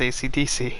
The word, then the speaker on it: Esidisi: No, it's spelled ESIDISI. That's weird. And it's pronounced ACDC.